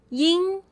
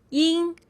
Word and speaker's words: ying: ING in Pinyin is pronounced as ying, ying. It sounds like ING in ring, but make sure you don't overpronounce the NG part at the end.